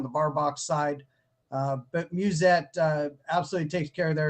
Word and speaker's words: Musette: And Musette.